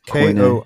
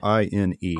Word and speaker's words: Koine: It's Koine. Koine.